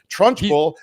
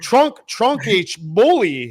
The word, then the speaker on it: Trunchbull: Trunchbull. I didn't know how to pronounce it. I was like Suedo down there, fucking like, I was like trunk H bully.